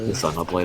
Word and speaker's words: Xenoblade: I Zenoblade a lot because I own a copy of this game in Japanese. So, yeah, because they pronounce it Zeno in Japan.